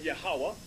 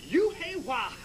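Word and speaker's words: Yahawah: his name you've heard youah how do they say you w you've heard Allah from farakhan you've heard Jehovah from the Christian church you've even heard yakwa okay but you have not heard yahwah read on and how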